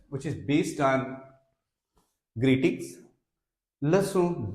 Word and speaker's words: leçon: Leçon 2. Here, if you observe the spelling of C, this is C with cedilla. This is pronounced like se, leçon, leçon 2, salutations.